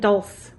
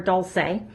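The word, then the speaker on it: dulse: sea salt help and Dolph's or Dulce depending on how you pronounce it I'm gonna put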